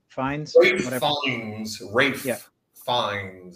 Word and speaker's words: Ralph: Now apparently it's Rafe Fiennes, but anyway.